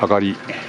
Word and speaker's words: 東: これ東は上がり、西は入りと読みます。